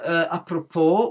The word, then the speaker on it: apropos: Also, any words of French origin, such as bourgeois, which ends in an S, or apropos, which also ends in an S, none of these words should have the S pronounced.